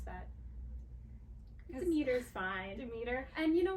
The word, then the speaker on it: Demeter: As a Greek person, how would you pronounce that? Demeter's fine.